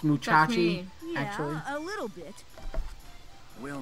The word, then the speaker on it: Musashi: you know about the legend of brave fencer moussa it's pronounced muchachi actually a little bit well man it's said